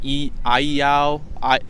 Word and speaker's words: Iao: I'm not mistaken, with Iao. It's spelled I-A-O, or Iao, and so it's not technically Thoth, right?